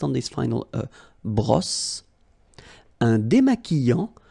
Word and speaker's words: démaquillant: So we've got this Q-U, but then U is not pronounced. So you get the sound qui. Okay, and then remember, double L after E will give you the sound y. Démaquillant. Final T not pronounced. Démaquillant. Okay, and this is nasal in your nose.